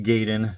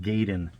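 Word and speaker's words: Gaiden: there buying tons of copies of Double Dragon giden even though Double Dragon giden is amazing and yes I'm aware it's pronounced gayen but who wants to call it gayen doesn't sound great so yeah Double Dragon giden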